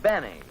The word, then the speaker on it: Benny: No, this is Jack Benny. Rhymes with Penny, if he can arrange it.